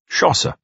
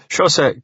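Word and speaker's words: José: Ove understood it, was Schosse. It was spelled Jose, but it seemed people weren't too particular about pronunciation in Spain. Schosse couldn't speak any Swedish, but he was very interested in speaking anyway.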